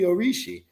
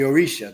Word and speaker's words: Orisha: can still work with the orishi or the orisha depending on how you pronounce it you could still work